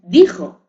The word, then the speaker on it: dijo: No es dixo, es dijo, pero porque ha evolucionado, porque anteriormente en su etimología se pronunciaba como dixo porque procedía de un término latino.